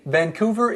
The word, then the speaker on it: Vancouver: See, Vancouver is in Canada.